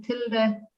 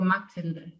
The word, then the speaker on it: Mathilde: Uh my name is a German name. I'm originally from Austria. So you would pronounce me Tilda or Matilda.